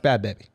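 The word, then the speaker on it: Bhad Bhabie: baby bad baby dude no bad like bobby without the r bad it's pronounced bad baby alex are you saying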